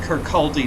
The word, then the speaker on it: Kirkcaldy: I know it's spelled like it should be pronounced Kirkcaldy, but it's actually Kirkcaldy.